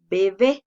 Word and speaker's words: bebé: como por ejemplo en la palabra bebé si se dan cuenta tiene dos sílabas la mayor fuerza de voz la hacemos en la última sílaba y como termina en